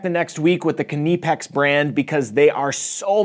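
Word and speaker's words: Knipex: And yes, I know it looks like it should be pronounced Nipex, but it's a German company and they pronounce it Kipex.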